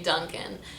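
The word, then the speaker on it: Dunkin': i notice and yes you don't say dunkin donuts you just say duncan and i think they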